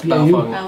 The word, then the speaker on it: Baofeng: Yeah, I think it was BAU, but yeah, it's Baofeng is the way it's pronounced.